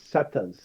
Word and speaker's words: Setas: it way worse it's setas setus okay set mushroom that's the actually that's the proper Spanish pronunciation for mushrooms oh just saying mushrooms